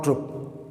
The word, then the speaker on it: troupe: सिर्फ स्पेलिंग का अंतर है, उच्चारण दोनों का एक सा है, ट्रुप और ट्रुप।